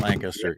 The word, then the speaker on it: Lancaster: And if you go there, make sure you both don't say it like a Californian or a Nebraskan. Say it like you're from Lancaster. It's just one syllable.